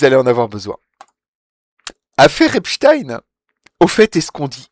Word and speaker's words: Epstein: pas si on dit Epstein ou Epstein. Voilà. Les télés américaines, françaises et britanniques semblent d'accord sur la prononciation de Jeffrey Epstein lorsqu'il traite sur le sujet. On dit Epstein, comme dans Rustine.